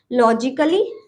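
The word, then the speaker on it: logically: ठीक है, दूसरा है हमारा लॉजिकली। लॉजिकली इसमें भी ए के बाद LLY है, इसलिए हमने ए को नहीं पढ़ा है, लॉजिकली पढ़ेंगे। हम लॉजिकली नहीं पढ़ेंगे, लॉजिकली पढ़ेंगे। ठीक है, ए साइलेंट।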